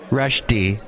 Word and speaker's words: Rushdie: And that guy is playing Larry David, playing Salman Rushdie. You're supposed to put the emphasis on the second syllable, and Salman Rushdie is